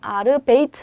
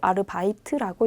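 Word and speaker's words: Arbeit: 아르베이트라고 읽지 않고요. 요거는 이따 배우겠지만 I 발음이 나요. 그래서 아르베이트 아니고 아르바이트라고 읽습니다.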